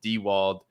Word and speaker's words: Diewold: It's pronounced Diewold.